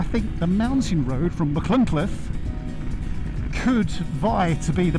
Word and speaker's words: Machynlleth: We are we are in Machynlleth. Are you sure about that? Are you sure about that? Look, careful now, you're going into difficult territory there. You're going to try to avoid pronouncing that T. Machynlleth.